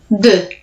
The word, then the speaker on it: deux: the numbers then, because the numbers are actually quite tricky in their pronunciation. They don't always look like how they're written. So number 1, I'll say, and then you repeat. So it's written like this. Deux. Your turn. So EU in French is also the E sound.